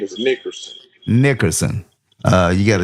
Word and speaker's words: Nickerson: But my last name is Nickerson. Nickerson. Uh, you got to excuse me. I'm I'm not good in pronouncing names.